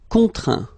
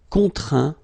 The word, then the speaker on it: contraint: Contraindre, contraint. Plaindre, plaint. Okay, and as usual, final T here is not pronounced, so you get craint, contraint, plaint.